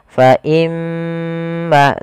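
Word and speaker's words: فَإِمَّا: kita faimma padahal Fal imma di sini ada huruf mim yang berharakat tasdid kita hukumi dengan bacaan gunah cara membacanya adalah menahan suara gunahnya faimma tidak langsung faimma kesalahan yang sering terjadi yaitu dia apa namanya tidak menahan gunahnya langsung faimmaah ini salah yang harusnya adalah faimma dulu kemudian pada lafal maanya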